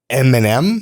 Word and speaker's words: Eminem: Eminem. Eminem. How are you supposed to pronounce it? I I emphasize the first M. Eminem.